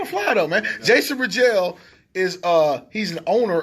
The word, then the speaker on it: Ridgel: pronouncing your name wrong so you got to pronounce it correctly for me what about my man in the building jason rajell rajell that's kind of fly though yeah oh you